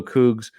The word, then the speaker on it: Coogs: special teams tweeted out hashtag go cougs with a uh Homer Simpson GIF and that is the right way to pronounce that and he said the